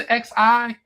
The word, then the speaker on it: Xi: Well, I can get the Lambda Mu Omega chapter, but please help me on what's the XI?